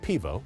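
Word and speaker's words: pivo: Pennsylvania beer by the way in Slovenian is pronounced pevo it's the one Slovenian word that I do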